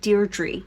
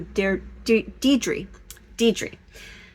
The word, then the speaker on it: Deidre: I think I may have called you Deirdre before. I know a few Deirdres, so I'm sorry about that. So Deidre. I was just looking at that again, and I think I was pronouncing that incorrectly.